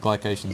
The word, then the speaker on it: glycation: uh glucos glucos ification glucos or gation G glycation is much easier for me to say where